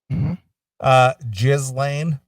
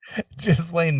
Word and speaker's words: Ghislaine: Your favorite name, your favorite current name that you like to mispronounce, Jizz Lane. Oh, Jizz Lane Maxwell. Ghislaine Maxwell.